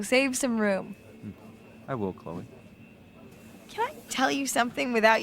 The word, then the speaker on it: Chloe: even even my friend slip into making it one syllable like hey Chloe Chloe yeah like that two